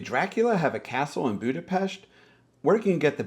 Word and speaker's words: Budapest: become one city and that Budapest is actually pronounced Budapest stick around for some more fun facts as